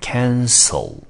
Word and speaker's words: cancel: cancelled。好，那 cancel 这个字呢，它的原型动词是 cancel，中文翻成取消。那这个字呢 Andy 要提醒同学的是，很多同学呢在念的时候常常会把它跟 cancer 这个字放在一起，注意哦，取消这个字我们念成 cancel，舌头后面是不卷的。癌症这个字念成 cancer，舌头要把它卷起来，因为它有一个 er，看到 er 你就知道这个舌头要卷起来了。好，所以一个字念成 cancel，取消，一个是念成 cancer 是癌症，两个字是不一样的。好，接下来我们看一下 overlooked 这个字。好，它的原型动词大家应该都看得出来是 overlook。